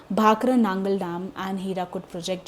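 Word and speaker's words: भाखड़ा नांगल: ना guys, Google है ना, इसका प्रोनाउंसिएशन आपको भाखरा नंगल डैम बोलेगा, पर हम बहुत पुराने ज़माने से अगर इंडियन प्रोनाउंसिएशन की हम बात करें, ठीक है, तो हम उसे भाखरा नांगल डैम ही कहते हैं, ठीक है। इंग्लिश स्पेलिंग के लिए इंग्लिश प्रोनाउंसिएशन हम भाखरा नंगल डैम बोलने लग गए हैं।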